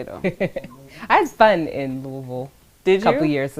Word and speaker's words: Louisville: Not Louisville. It's Louisville. It's like Louisville. Yeah. Louisville. Like you gotta say Did it we right. say it right? The technical way to say it is Louisville, but people from here is country, so they just say Louisville. I don't know why.